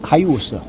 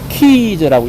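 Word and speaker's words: Caius: 이름을 넣는데 돈빌엠티즈 칼리지 근데 티저는 원래는 스펠링이 어떻게 되면은 카이유스예요 카이우스 그래서 건빌 앤 카이유스 칼리지라고 해야 되는데 앞에서 우리가 막달란이라고 안 하고 뭐라고 응답했죠 모델님 모델링은 여기에 카이온스가 아니고 키즈라고 읽습니다 키즈 그러면 이제 콤비 된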